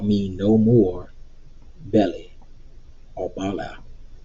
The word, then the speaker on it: Baal: call me no more belly or bala how do you want to pronounce that again it's just bell to me so again we're going